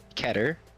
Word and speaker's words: Keter: Uh, Keter, if that's how you say it. K E T E R. K E T E R. Yep. All right. So, keater class Ker, what the hell do you say it?